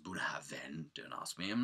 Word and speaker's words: Bunnahabhain: It's written Bunnahabhain, but it's pronounced Bunnahabhain.